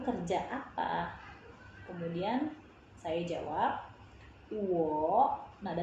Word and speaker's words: 我: Nah, kalau nada ketiga ketemu nada ketiga, itu akan berubah ketika diucapkan. Jadi berubah jadi nada kedua baru nada ketiga.